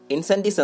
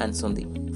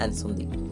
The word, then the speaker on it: Incendies: ഈ ചിത്രത്തിന്റെ പേര് ഇൻസെൻറ്റീസ് എന്നാണ് വായിക്കുന്നതെങ്കിലും ഇതൊരു ഫ്രഞ്ച് പദമാണ്. ഇതിന്റെ ഉച്ചാരണം അൻസന്തി എന്നാണ്.